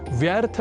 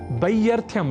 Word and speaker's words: व्यर्थ: जैसे व्यर्थ या व्यर्थः और वै्थ्यम आदि शब्दों को व्यर्थः और ब्यर्थम लिखना तथा बोलना अशुद्ध है।